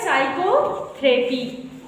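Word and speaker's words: psychotherapy: नहीं रहे हो बच्चे एस से पहले प आया है तो क्या हो जाएगा साइकोथेरेपी समझ रहे हो से पहले जब पी आएगा तो आपका पी जो है साइलेंट हो जाएगा समझ रहे हो पढ़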